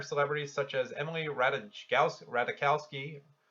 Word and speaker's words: Ratajkowski: such as Emily Ratajkowski radical ski don't think the Jays pronounce french kowski but praised the candidate